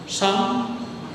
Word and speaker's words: Psalm: सम P silent रहता है इसमें।